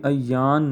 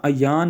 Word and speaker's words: ایان: تلفظ بھی سنتے جائیں، تلفظ اس کا ایان نہیں ہوتا بلکہ ایان، عین کے اوپر زبر ہے اور یا کے اوپر شد ہے، ایان۔ اس سے بھی بہتر